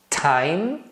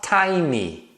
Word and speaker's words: time: da letra e mas em inglês as palavras que terminam com e esse e não é pronunciado então vai ficar valendo